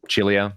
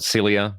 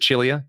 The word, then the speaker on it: Cilia: And then I went to Sydney on Monday and went down to, you know, Charles Chilia, or Cilia, however you want to pronounce it. He pronounces it Chilia because he's Maltese.